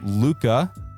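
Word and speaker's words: Lucca: Then we got La or Luca. Different pronunciations. We're going to call her Luca.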